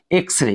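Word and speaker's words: X-ray: শব্দের শুরুতেই রয়েছে কিন্তু এখানে এক্স কে জ উচ্চারণ করা যাবে না। এখানে হচ্ছে বলতে হবে এক্সরে।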